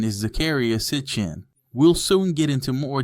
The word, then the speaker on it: Zecharia Sitchin: They say the most correct pronunciation is Zakaria Sitchin.